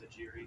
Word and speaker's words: Aguirre: There was a player that was texted on who told us that it was Aguirre. She's just talking about that. It must be Aguirre. I'm going to go with Aguirre, though.